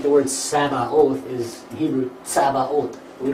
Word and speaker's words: Sabaoth: Sabaoth.